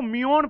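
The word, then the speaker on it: muon: इसको म्यून पढ़ते हैं, म्यून।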